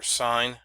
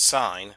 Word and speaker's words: sin: They're sine, cosine, and tangent. We abbreviate these SIN, that's pronounced sine, not sin, COS, which is still cosine, and TAN, which is pronounced tangent.